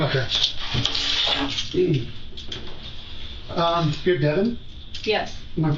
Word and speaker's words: Devan: you everything no not there um you're Devon yes am I pronouncing that right yes I'm you can